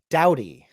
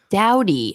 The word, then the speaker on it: Dowdy: Dowdy. Dowdy.